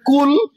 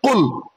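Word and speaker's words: قُلْ: গলাতে একটু চাপ লাগিয়ে উচ্চারণ করতে হবে। কি বলতে হবে? কুল, কুল, একদম ভেতরের এতে চাপ লাগিয়ে বলবে কুল।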